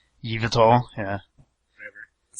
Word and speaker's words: Yveltal: Oh, Evil Tall, or however you pronounce his name. Yveltal, yeah.